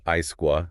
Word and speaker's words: ISQua: And also the National Accredititation Board for Hospitals and Healthcare Providers, NABH, plus Supreme Consultancy and Isqua, that's the International Society for Quality and Healthcare. Isqua, yeah, pronounced ISQUA.